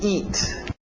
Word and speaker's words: eat: To eat. To eat, aquele T bem nítida. Eat, para no T, eat. Isso, EA, som de I, to eat.